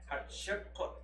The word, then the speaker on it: Hatshepsut: Okay, her name is spelled H-A-T-S-H-E-P-U-T. Hatshepsut.